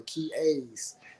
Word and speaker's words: Qiayz: Y'all follow her Kia's. She spell it Qiayz. I remember how to pronounce it now because the whole interview I got it wrong.